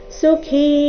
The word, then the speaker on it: ಸುಖೀ: ಸಯುಕ್ತಸ ಸುಖಿದರಹ ಸಯುಕ್ತಸ ಸಯುಕ್ತಸ ಸುಖಿ ಕಿ ಇಲ್ಲಿ ಮಹಾಪ್ರಾಣ ದೀರ್ಘ ಸುಖಿ ನರಹ ನೋಡೋಣ ಪೂರ್ತಿ ಶ್ಲೋಕ